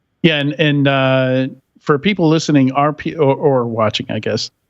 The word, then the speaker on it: Arpio: Yeah, and for people listening, RPO or watching, I guess, RPO is spelled ARPIO. I'm just saying that because it didn't even occur to me that people might think it's RPO.